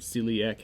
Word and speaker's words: celiac: Off of that celiac trunk, much like the word celiac has 3 syllables, you'll have 3 branches.